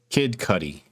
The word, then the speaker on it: Kid Cudi: kid cup how do you say his name kid cudi kid cudi want to talk about that yeah